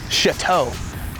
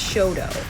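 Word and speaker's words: Chouteau: Ooh, Chateau. No, it's Shodo. That's wrong.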